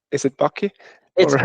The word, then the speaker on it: Backe: Is it Baky or It's Baky. It's It's Baky and it rhymes with Haki.